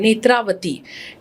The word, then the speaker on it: नेत्रावती: मेरा भी नाम है नेत्रावती, NETRAVATHI, this is my original name spelling but I have dropped the A to that, so नेत्रवती। सो it's actually pronunciation vibration wise same ही है but spelling is different.